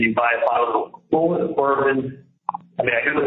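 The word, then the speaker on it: Bulleit: You drive straight to a liquor store and you buy a bottle of Bull Bourbon. I mean, I know it's pronounced Bullet, it's French or whatever, but everyone says Bull Bourbon for that evening to celebrate with your friends.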